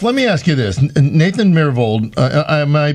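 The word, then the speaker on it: Myhrvold: well so chef let me ask you this nathan miravold am i pronouncing his last name correctly yes that's right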